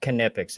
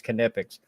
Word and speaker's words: Knipex: the K is not silent. It's pronounced Knipex. It's a last name. It's a German name. The K ain't silent. People say it with the silent K, but it's Knipex.